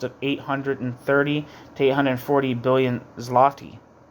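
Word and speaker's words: złoty: the enormous cost of 830 to 840 billion zloty.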